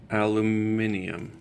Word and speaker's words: aluminium: And spelt with 2 I's. Aluminium. I guess that's the English way of saying aluminum.